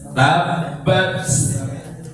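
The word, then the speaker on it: تَبَّتْ: Kalimat pada ayat pertama yang harus menjadi perhatian kalian semua, pertama adalah huruf ta yang disukun pada kalimat tabbat. Itu jangan sampai kehilangan sifat hamesnya. Tabbat, ya, tabbat, ya, tetap muncul, ya, tabbat.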